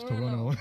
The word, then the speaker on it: Toronto: We pronounce our T's like Toronto. Yeah. Yeah, the Canadian will say it's Toronto. Toronto, and they don't pronounce your T's or Yeah.